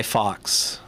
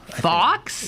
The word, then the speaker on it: Fawkes: But how do you pronounce that guy's name? Guy Fawkes. Fawkes?